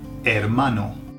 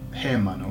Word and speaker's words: hermano: I I okay there is there are brother brother okay is her mano hermano now if the h was pronounced it would be hermano hairmano okay so imagine you